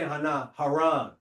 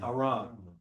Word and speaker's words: Haran: we say Haran. You saying it wrong, it's Haran.